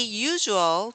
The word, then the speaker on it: usual: There are three usual tools for butchering. What sound do we make here? Usual, usual. This is the sound zh, Yeah, zh.